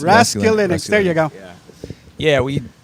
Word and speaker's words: Raskulinecz: Nick Raskulinecz. Raskulinecz.